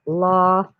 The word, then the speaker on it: Lafayette: Oh, and I once lived on Lafayette Avenue, and that's sort of a mispronunciation, but that's how we all pronounced it, Lafayette.